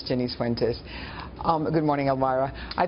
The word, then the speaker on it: Jennice Fuentes: of all good morning good morning yes you pronounced my name correctly it's Jenny fenes um good morning alvara I think that what